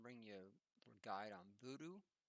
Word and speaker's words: Vuhdo: then you're going to type in voodoo it's spelled v-u-h-d-o now there is other